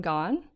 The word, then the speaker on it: Gawne: Yeah, but she's nice and says that it's okay to pronounce it like Gone, as in Gone Girl.